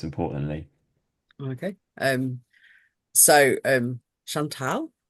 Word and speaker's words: Chantal: okay um so um Chantel um is how you say my name um I'm technically not